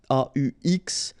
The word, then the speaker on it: aux: And then a plus les will become o, aux, but then remember that phonetically it's o.